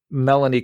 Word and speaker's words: Melanie: I don't know because Melanie remember it rhymes with felony right uh yeah